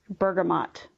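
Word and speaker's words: bergamot: for that first item bergamont the t is pronounced it is a scent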